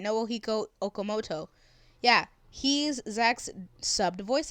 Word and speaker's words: Okamoto: translate shall we noble hiko okamoto hey i pronounced it right now okamoto yeah he's zack's subbed voice actor the same